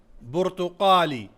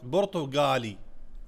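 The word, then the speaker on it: برتقالي: बुर्तुकाली. बुर्तुकाली. बुर्तुकाली. Since Q is pronounced as G in most of the GCC countries, Gulf countries, so that's gonna be as Portugali. Portugali.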